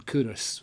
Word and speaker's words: Culross: For those of you not from the area, the pronunciation is Culross. Not Culross, Culross.